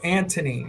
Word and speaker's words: Antony: And we're going to do to Antony. It's spelled A-N-T-O-N-Y. Antony. Missing a letter there. No. Because it's Antony, not Anthony.